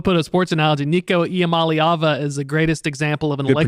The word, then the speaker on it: Iamaleava: Nico Iamaleava is the greatest example of an good electric truck. Good pronunciation, by the way.